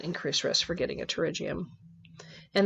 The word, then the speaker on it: pterygium: risk for getting a pterygium and the P is silent so it sounds like pterygium so this kind of